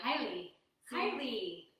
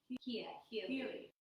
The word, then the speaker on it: Hialeah: Yeah. Hialeah. Not high. There's no way. H-I-A. Hialeah. Okay. Hialeah. Okay. Hialeah.